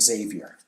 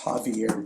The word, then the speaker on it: Xavier: Am I Javier? Is that how you pronounce it? I should have looked it up. Cuz someone's going to tell me in the chat. I hear you. It's Javier, Danny.